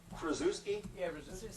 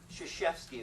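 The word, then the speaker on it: Krzyzewski: matter what no excuses can anybody pronounce that name looks like crusi it's not shashki is the way you pronounce it yeah pardon Shi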